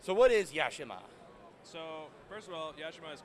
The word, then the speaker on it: Yashima: no all right that's right so what is yashima so first of all yashima's co-designed by myself